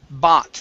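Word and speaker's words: bought: this word here is pronounced bot instead of bot bo it the o u g h is an ah sound very good okay let's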